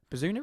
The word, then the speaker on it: Bazunu: Bazunu, is it? Yeah, Bazunu. Yeah, pronounced it right.